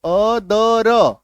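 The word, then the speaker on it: other: अन्य अदर ओटी अदर इसका उच्चारण देखो अदर है ना अदर क्लियर है इसको अथर नहीं पढ़ेंगे अदर राइट चलो नेक्स्ट बहुत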